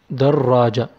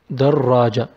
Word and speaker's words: دراجة: We have در then راجة. First را with سكون. Second one is with فتحة. دراجة. I stress on را or I double pronounce it. دراجة.